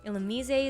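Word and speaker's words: Illumise: Ilmise is there to provide tailwind and encore support.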